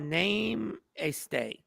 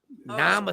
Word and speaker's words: namaste: So Joy said name a stay. Namaste. pronounced namaste. Namaste.